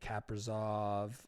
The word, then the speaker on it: Kaprizov: Kaprizov.